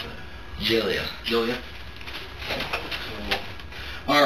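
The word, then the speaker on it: Gelia: g e l i a how do you pronounce that jilia jilia all right tell me why you're here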